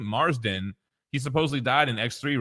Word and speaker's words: Marsden: Marsden.